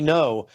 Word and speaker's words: Ngo: Um the next Yeah, by the way, I just shout out people like Andy No, his last name is spelled G Ngo.